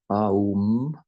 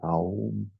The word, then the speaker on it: Aum: Aum. So it's Om in its older instantiation with the Au, AU together, Aum. And then the Anuswara, the nasal sound at the end. So Aum.